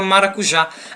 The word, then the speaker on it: maracujá: estamos aí a palavra maracujá a palavra maracujá ela é uma palavra que tem por sua sílaba em tonicidade a sílaba já que a última sílaba e também essa sílaba já ela é acentuada não somente por ser